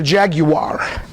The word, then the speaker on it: Jaguar: one day get a Jaguar because it is a three-syllable word if you don't know